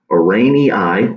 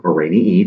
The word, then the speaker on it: Araneae: The order in which spiders fall is Araneae, or Araneae, depending on which way you want to pronounce it. A lot of the Latin names have different pronunciations depending on who's saying it.